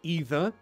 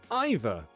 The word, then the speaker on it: either: way they're both correct it's like either either they're both correct you just sometimes i say either sometimes i say either sometimes i say often sometimes i say often your choice is based on your mood you know never thought